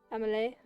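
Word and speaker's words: Emilie: you say her name is it Emil em Emily Emily Emily but like French Emily but French um I still haven't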